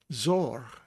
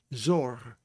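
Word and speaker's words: צור: The other word we have for Sadi is Sadi, O sound, and reish. So it's Zor, Zor.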